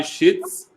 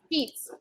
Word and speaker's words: sheets: Okay, everybody shits. Shits is the pronunciation correct? Sheets. No. Now listen. When you say it the other way, it is a bad word.